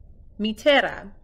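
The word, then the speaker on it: μητέρα: yes ooh this is how you say mother matera Greek is one of the oldest spoken languages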